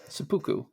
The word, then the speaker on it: seppuku: Seppuku, is that how you say it? Seppuku.